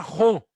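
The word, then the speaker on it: ὁ: Luego vean esta palabra en griego que se pronuncia jo.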